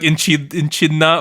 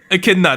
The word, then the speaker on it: Echidna: It's like her name looks like it's enchilada, but it's like enchidna or something. Echidna, that's her name.